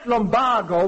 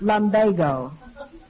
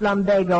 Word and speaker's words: lumbago: right uh i had lombardo when i came to chicago that word is pronounced lumbago or they changed it recently you never changed it it's always been pronounced lumbago according to webster all